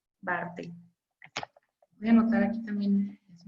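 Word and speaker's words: Barthel: La Bartel se escribe B de burro, A, R, T, H, E, L. Bartel.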